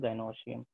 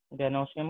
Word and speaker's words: gynoecium: और इसको प्रोनाउंस करते हैं हम लोग गाइनोशियम। ठीक है, गाइनोशियम और एंड्रोशियम।